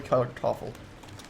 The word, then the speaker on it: Kartoffel: The R's are not very well pronounced in German, last I remember. That's what my, not necessarily not well pronounced, but they're more of a roll than just a R or a it's back in the more of the back of your throat, according to my German teacher years and years ago.